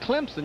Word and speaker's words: Clemson: You said Clemson. You said it right, but it's Clemson.